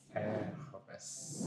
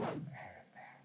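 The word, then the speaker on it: Hermès: How do you say Hermes? Hermes. Hermes. Yeah. Oh, so no sound for H.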